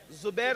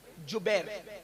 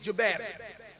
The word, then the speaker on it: جبیر: اس درے پر 50 صحابہ کو عبداللہ ابن جبیر, زبیر نہیں بلکہ جبیر, جیم سے جبیر, تھوڑا سا آج کل